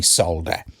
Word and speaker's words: solder: Anyway, in the UK, we say solder. And it's spelt solder, but I guess other people leave out the L.